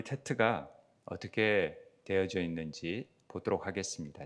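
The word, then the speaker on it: ט: 그래서 테트라고 읽고요. 발음은 T 발음이 납니다.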